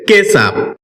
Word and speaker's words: ketchup: কেসাব এটাকে আমরা ক্যাচপ বলে থাকি যার সঠিক উচ্চারণ হচ্ছে কেসাব শব্দটি বাক্যে নাউন হিসেবে